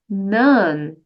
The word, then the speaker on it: known: Então, o verbo aqui know, que é K-N-O-W, no infinitivo, a pronúncia é know, mas aqui, como ele está no past participle, fica none. None. Essa é a pronúncia, sabe?